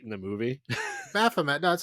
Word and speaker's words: Baphomet: Baphomet.